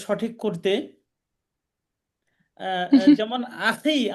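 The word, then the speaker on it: أخي: যেমন আখি, আমরা আখি বলি, আখি মানে ভাই, তো বলে আহি, জি আখিকে আহি বলে।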